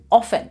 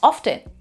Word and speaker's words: often: Like when I was in India, I used to pronounce often. However, in UK, they pronounce often. T is not silent here.